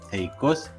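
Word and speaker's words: θεϊκός: ya sabemos muy bien, poniendo dialítica por encima de la segunda letra, indicamos que las dos letras se tienen que pronunciar separadas, como por ejemplo en la palabra theikos, que significa divino.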